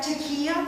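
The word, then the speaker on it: taqiyya: lie to people who aren't muslim is that tequila is that how you pronounce it yes can you explain how that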